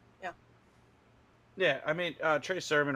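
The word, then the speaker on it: Trey Sermon: moving on we have I'm probably going to pronounce his last name WR Trey Surman you got it yeah awesome okay um try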